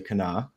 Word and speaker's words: Kanawha: I was in Big Chimney, West Virginia, just outside of Charleston, on the Kanawha River. It's spelled Kanawha, but you say Kanawha for those West Virginians out there.